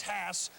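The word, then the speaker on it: Haase: transfer from Cal Berkeley used to be pronounced cost now it's Hass and he lit it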